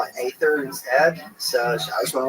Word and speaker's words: Aether: It's actually pronounced Ether and I was like I just call it Aether instead.